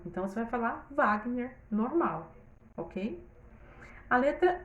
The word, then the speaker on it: Wagner: Wagner, eu já vi Wagner registrado tanto com V como com W. Mas na hora de pronunciar, você não vai falar Wagner, você vai falar Wagner.